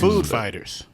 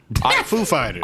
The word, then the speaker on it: Foo Fighters: Food Fighters? Foo Fighters.